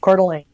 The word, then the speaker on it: Coeur d'Alene: correctly by the way quarterly okay good just like apple core okay because it's idaho yeah core not core core although cooler maybe because